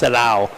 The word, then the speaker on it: Serao: So in Italy, the AO is pronounced ow, so Ow. it's Serao.